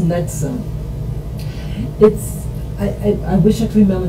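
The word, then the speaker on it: NXIVM: Mary, and it's pronounced Nexum. Excuse me. They actually represent Roman numerals, but it's pronounced Nexum.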